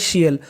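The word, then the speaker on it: tial: English में पढ़ते हैं शियल आपको इंग्लिश में कहीं पर टी आई ए एल लिखा मिले तो उसका उच्चारण आपको करना है शियल ये हमारा कोड है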